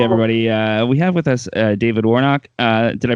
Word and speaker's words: David Warnock: We have with us David Warnock. Did I pronounce that right?